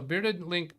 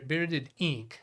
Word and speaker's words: Bearded Inc: and then yeah so bearded Link in B bearded Inc I've always mistakenly pronounced it bearded link it's hard to tell whether it's a lowercase l or an uppercase I I think it's an